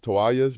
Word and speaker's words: toallas: The double L again makes the Y sound. If you need extra towels, you can say necesito más toallas, meaning I need more towels.